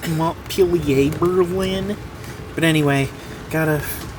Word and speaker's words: Montpelier: Actually, it's pronounced M Pier Berlin.